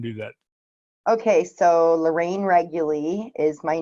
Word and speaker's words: Reguly: anyways yeah so Lorraine regularly no one ever ever gets the pronunciation of my name right but it's re G u ly regularly and I run wording